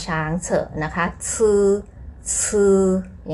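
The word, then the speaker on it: 字: จื จือ ตัว นี้ อ่าน ออก เสียง ว่า ซื้อ ซื้อ เป็น เสียง 4 ค่ะ ตัว อักษร นั่น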